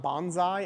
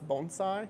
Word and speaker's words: bonsai: And it's not bonsai, it's bonsai, so that's an interesting fact.